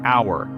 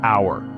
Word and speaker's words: hour: example the word our even though H is a consonant in hour it's silent and the word actually starts with a vowel sound so we say an hour not a hour another tricky area is